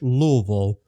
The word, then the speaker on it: Louisville: We basically slur all of the consonants and just focus on the vowels there. We just call it Louisville.